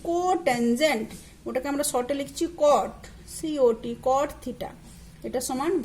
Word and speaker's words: cot: আর এই কট হয়ে যাবে ক্যাট। ঠিক আছে, তো এটা যেন ক্যাটও না হয় আর ওটা যেন টেনও না হয়।